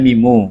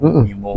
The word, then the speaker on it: Mimo: Mimo, kok bacanya Mimu. Mimo ya.